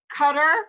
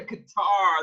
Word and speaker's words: Qatar: oh really it's TZ they always also say um what is it cutter for Qatar it's really guitar they always say cutter that one I knew